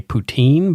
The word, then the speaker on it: poutine: those kind of things I'm going to continue to say poutine because it's a regional pronunciation and I don't care